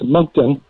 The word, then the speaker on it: Moncton: right you know mentally that small town its Moncton that's right that's right I was corrected and